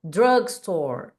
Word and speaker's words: drugstore: Drugstore, store, ó, para no R. Drugstore.